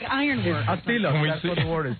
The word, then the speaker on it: tilak: A tilak, that's what the word is. What is it? Oh, no. What is the word? Tilak. T-I-L-A-K, that's how you say it.